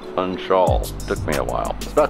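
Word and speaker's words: Funchal: to Madera island the city of punch-out city of fun Shaw that's how you say it punch all took me a while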